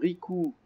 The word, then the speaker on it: Rikoooo: téléchargé sur le site ricou points comme les coups ça s'écrit r&i k o o o o c'est à dire 4 ou à la suite - comme et donc